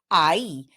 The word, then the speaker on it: ahí: To say the word there, we use ahí. And notice that we have the H in between those two vowels, and the H in Spanish is silent.